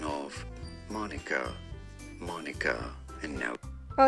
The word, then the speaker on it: Monica: manka monk how to say man Micah the pronunciation of Monica Monica and now oh it's Monica okay and it